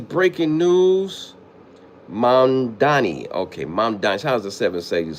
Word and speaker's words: Mamdani: He needed Mayor Madani.